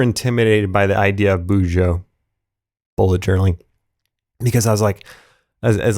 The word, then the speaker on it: bujo: when he first said bujo i i don't even know if i'm saying it right but it's b u j o uh boujou boujou bujo however you want to say it but bullet journaling